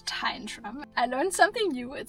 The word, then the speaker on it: Tyndrum: We have made it back to the van, back to Tyndrum, which is apparently how you pronounce it. I don't know. I feel like I've always heard people saying Tyndrum, but I got to talk with an older gentleman on the train and I asked him how it's pronounced and he said Tyndrum.